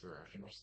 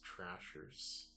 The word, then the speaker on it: Thrashers: D Atlanta Thrashers or tra no it is Thrashers sorry Thrashers for some reason I I mispronounced it when I was like nine as trashers probably because of the trash yep and Adam has